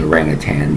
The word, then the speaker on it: Orang Utan: it rang at Yutan I think that's how you pronounce it you rang Yutan it's actually orangutan but they separate um the word after the G hyphenated with a u so as their self-titled